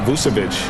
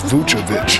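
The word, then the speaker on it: Vučević: And big man Nikola Vucevic, maybe not the most athletic, but Shaq, his skill level makes him a factor. Well, first of all, they call me Shakovic. You said his name wrong. It's Vucevic.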